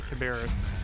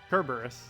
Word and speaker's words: Kerberos: pronunciation you just give makes me want to say Caberis. Let's see, I'll move that up. I just need to find a video of it being said pronounced, and then just listen to it for like 30 minutes straight, and then I'll never say it wrong again. Kerberos. Oh, okay, that makes more sense. I think that's the first time I ever said it right then.